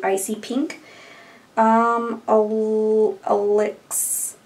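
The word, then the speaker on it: Alyx: pink um um Al Alex Alex but it's spelled a l YX which is a nice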